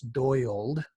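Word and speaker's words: Doyald: very interesting uh i wasn't sure how to pronounce this at first but it's doyled doyle young doyle young um was is an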